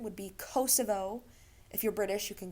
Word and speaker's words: Kosovo: correctly apparently i always thought it was um kosovo looked it up and that is not correct standard english pronunciation would be kosovo if you're british you can get away with saying kosovo albanians like to call it kosova um and